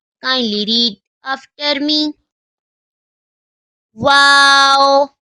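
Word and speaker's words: واو: to pronounce this is wow kindly read after me wow wow comes from the lips like round circle to pronounce wow wow this is kindly read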